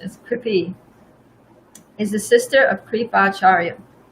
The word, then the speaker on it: Kripi: The wife of Dronacharya, Kripi, the pronunciation is Kripi, is the sister of Kripacharya.